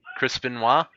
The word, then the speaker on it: Chris Benoit: Chris Benoit.